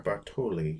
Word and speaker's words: Bartoli: Italy zip article er Bartoli usually the accent in Italian would be on the second to last syllable for some reason I